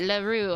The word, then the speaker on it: Laru: That's how you say it. Laru. I've been saying it wrong.